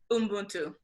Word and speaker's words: Ubuntu: And I apologize if I mispronounce that, but I believe it's Ubuntu. Ubuntu.